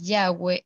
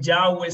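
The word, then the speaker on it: Yahweh: personas dicen ya ve en hebreo no hay vocales y realmente no es yagüe sino y h w h en las traducciones latinas se le ha puesto vocales para que podamos pronunciar de alguna manera nosotros entonces ahí pues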